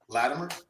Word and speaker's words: Latimer: Latimer, which is where you say Latimer. I say it with a it almost sound like a D.